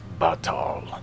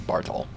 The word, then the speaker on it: Bartol: His name is pronounced Batal. There's no R. That is what I said. Sounded like you were saying Bartol.